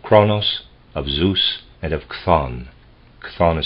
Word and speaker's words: Chthon: But Pherecydes also speaks of three principles of the world, of Kronos, of Zeus, and of Chthon. Chthon is spelled C-H-T-H-O-N.